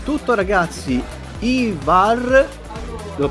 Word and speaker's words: Ivar: Ivar, l'ho pronunciato bene?